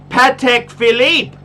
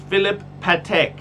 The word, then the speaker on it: Patek Philippe: best brand he said no pat patek philippe he actually and i used to pronounce it phillip patek philip patek because i i you